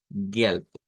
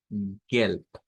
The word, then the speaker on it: gelb: No tenemos mayor cambio, solamente que la consonante última se convierte de una B a la pronunciación de una P. Entonces decimos Gelb, Gelb, es el color amarillo.